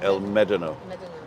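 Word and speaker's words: El Médano: uh of that Village there's an accent over the E so you you'll actually pronounce it El medino it's like I found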